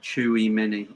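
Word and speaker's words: Tchouaméni: you know this is what i'm saying uh chewie mini is how you pronounce it oh there you go uh we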